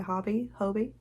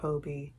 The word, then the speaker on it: Hobbii: I looked up a video of how to pronounce it, and turns out even within the company, people pronounce it differently, so I am going to keep saying Hobby or Hobie interchangeably.